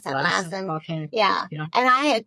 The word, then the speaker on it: Lassen: How do I pronounce that? Lassen.